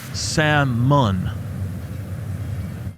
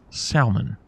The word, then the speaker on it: salmon: if you do this there is a rule in the English language that if L comes after a the L is silent that would mean and